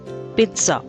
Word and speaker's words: pizza: not pizza it's pizza there is a kind of t sound after p pizza next word is sour